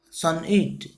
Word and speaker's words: sonnet: what is a sonnet a sonnet pronounced son it is a 14 line